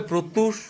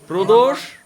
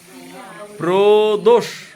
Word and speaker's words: প্রদোষ: অসংখ্য নামে প্রদষ দাকে সম্বোধন করে কেউ বলে প্রত্যুষ প্রদ্যুস প্রদপরে কি বলে পরিতোষ মানে কত নামে হ্যাঁ ভালো করে বলতো কি নাম আপনার নামটা কি প্রদোষ করে বলুন স্পেলিং দিয়ে বলো স্পেলিংটা বলুন তো